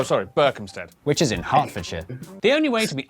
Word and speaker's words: Hertfordshire: ER is pronounced R. Berkshire, Clerkenwell, Hertfordshire. But before you get too